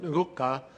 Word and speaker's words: Ngcuka: I also want to welcome Phumzile Mlambo Ngcuka, who, did I get it close to correct? No. Close? All right. Ngcuka, that's how you say it, who recently became the executive director of UN Women, and Dr.